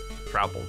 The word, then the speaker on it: Trouple: Pronounced like mouthful? Trouple? Trouple. Not Truple.